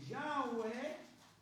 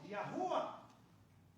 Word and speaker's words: Yahweh: Esto es una una versión de Yahweh. Sí se pronuncia Yahwe o Yahua.